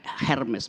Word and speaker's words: Hermes: Hermes itu dewi yang dapat tugas untuk menafsirkan perintah langit kepada manusia dan sebaliknya keinginan manusia pada Tuhan. Namanya Hermes, bacanya Hermes.